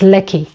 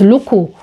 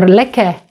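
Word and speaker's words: لكِ: We Arabs know it's leki. But maybe for you guys who are just learning the language, you might be confused. You don't know how to pronounce this word. Maybe you think it's luku or liki or leke. By the way, it can be leke because leki means for you female and leke means for you male.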